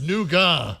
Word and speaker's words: nougat: then I kept saying nugat and he's still he did not understand that I was you're not my daughter if you can't say it properly it's nouga well but it's so